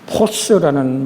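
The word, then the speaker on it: φῶς: 근데 이 빛이라는 이 원어를 주님이 발음하실 때는 포스라는 말씀을 쓰셨습니다.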